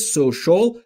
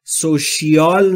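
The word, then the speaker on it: social: بالارونده سوشال یعنی اجتماعی دوستان دقت داشته باشید تلفظ سوشال سوشیال نیست سوشال ک یعنی آدمی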